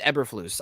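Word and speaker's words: Eberflus: ever effortless uh the I can't pronounce the name that sounds too much too close to effortless for me eberfloose it's eberfloose um the defensive coordinator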